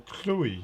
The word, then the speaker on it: Clovis: and this clovis or chloe it should be pronounced um because a v in latin uh is usually pronounced as a u so this chloe he's